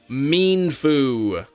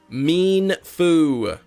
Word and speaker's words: Mienfoo: uh there we go how to say it mean FU mean Foo emphasis on the mean emphasis on the foo you just got out